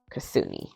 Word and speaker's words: Kitsune: Kitsune Kasuni, that's how you say it.